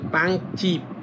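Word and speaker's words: 빵집: যখন এটা একসাথে উচ্চারণ করবেন তখন হবে পাংচিপ। এটা জিপ হবে না।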